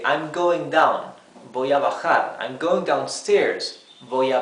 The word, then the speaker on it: bajar: Okay, and we have the verb bajar, bajar. Remember that letter J in Spanish is pronounced like a very rough H in English, okay?